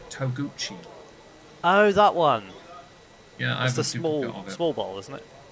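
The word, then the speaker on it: Togouchi: No, this one is pronounced Toguchi.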